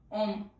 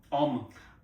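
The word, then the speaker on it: homme: इसको ओम ओम और जबकि स्पेलिंग क्या है?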